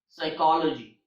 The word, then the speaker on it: psychology: is P in English all the words that starts with P s have a silent P like Psalm Salter psychology psychic psychotic and so